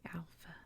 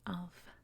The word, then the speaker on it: alpha: basically the same alpha i know some people say alpha but it's alpha because it's a soft a sound so soft a make